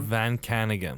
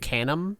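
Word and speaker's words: Van Caneghem: Van kanigan I think I think is how you say van can again if you asked me I would have said Canim but it's not Canim um John Van kanigan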